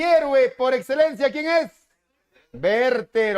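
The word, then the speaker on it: Werther: no ocasionar mayores problemas es werter o verter como debería ser en su pronunciación el efecto verter se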